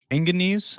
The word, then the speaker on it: manganese: Manganese or manganese? Manganese, like mango.